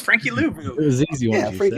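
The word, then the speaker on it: Louvau: Let me look up the pronunciation because again, I'm so brutal at these. But it's Frankie Louvu.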